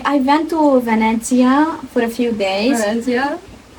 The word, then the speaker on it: Venezia: Also, that like I went to Venezia for a few days.